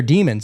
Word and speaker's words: daemon: Like it's spelled Daemon or whatever. But it's their demons.